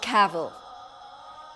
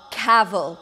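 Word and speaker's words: Cavell: get out I think Edith caval no caval it rhymes with gravel as I have already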